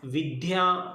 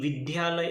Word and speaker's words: विद्या: ज़्यादातर छात्र, ज़्यादातर व्यक्ति विद्या, विद्यार्थी, विद्यालय ऐसा बोलते हैं, परंतु यह गलत उच्चारण है, क्योंकि विद्या शब्द है उसमें द प्लस य का मिलन है। तो हमें क्या बोलना है? विद्या, विद्यार्थी, विद्यालय, विद्यार्थिनी, ऐसे शब्दों का प्रयोग करना है।